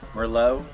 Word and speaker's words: Merlot: Lord I love Mero if you're from France the tea is pronounced but here in the United States the te is pronounced T that's right so the Merlot is delicious you know